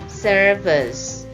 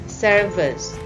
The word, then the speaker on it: service: And then service di sini kita baca service. V-nya itu seperti P, cuman kalau P itu meletup, kalau V itu berat. Service.